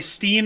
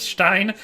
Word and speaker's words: Stein: vernacular which is why i sometimes say steen instead of stein and it's the same